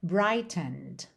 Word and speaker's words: brightened: Ele aqui está no passado, mas esse é da terminação ED não é pronunciado. Só que a gente tem uma nota longa, justamente ali onde teria esse N.